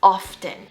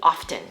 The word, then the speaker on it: often: Most non-native speakers will say this word as often, really emphasizing the T often. But in America, we kind of just drop the T and we just say often.